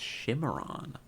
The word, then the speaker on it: Cimarron: Pronounced Shimmeron.